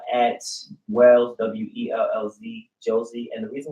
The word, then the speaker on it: Wellz: I'm also on Facebook, Josie Wells, JOSCY_WELLZ. I'm also on Twitter. I just started a Twitter page, so I don't really got any followers. But it's at Wells, WELLZ, Josie.